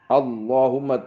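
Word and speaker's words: اللهم: Jadi Abu Ya Said Hamid Al-Kaf rahimahullah, kalau berdoa setiap sampai ke lafaz Allahumma, itu hummahnya itu yakni mudgham. Jadi idghamnya ditampakkan. Allahumma, terus tasdidnya lam itu ditampakkan juga.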